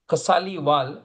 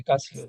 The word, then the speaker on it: Kasliwal: The KA should have the line Oh, and yeah, not yeah, Kasliwal. Yeah, Kasliwal. No, it is written correctly. I did not pronounce it correctly.